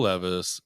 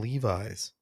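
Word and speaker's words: Levi's: Levis like the jeans I always want to call them Levis it's Levis but it's spelled like Levis so Billy jeans okay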